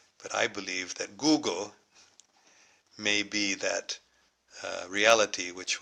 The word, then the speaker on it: Gog: What is, actually in Arabic there is no g sound, so it's Gog would be pronounced Jog. So I think that Yajuj and Majuj are really Yagug and Magug. So, and Gog is not Gog, it's Goog.